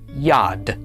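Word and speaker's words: יד: To pronounce this, the yod makes the sound y, the comets makes a and finally the dolllet makes the sound duh. Altogether, this is pronounced yad.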